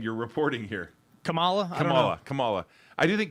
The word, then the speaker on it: Kamala: again i don't think uh uh is it camila harris she's how do you say her name